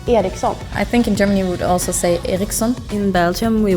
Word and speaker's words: Ericsson: like flat, while well in like the Swedish pronunciation, Ericsson is very like Ericsson.